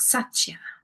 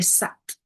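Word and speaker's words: सत्: And Sat in Sanskrit means the purest essence of, and you'll hear Sat a lot. The pronunciation of it is that the tongue hits the back of the teeth, the roof of the mouth.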